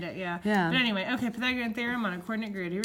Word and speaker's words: Pythagorean theorem: more time Pythagorean theorem I tried to teach one of my kids how to say this a few months ago I don't remember which one is one of my pre AP kids and they were like patek upset so bad thank you guys